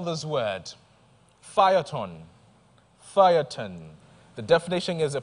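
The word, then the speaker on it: Feuilleton: The word is spelled F-E-U-I-L-L-E-T-O-N, Phaeton.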